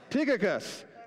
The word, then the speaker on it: Tychicus: Tychicus, right? That's the guy's name. So let's get going. Keep going. Tychicus, the beloved brother, or if we want to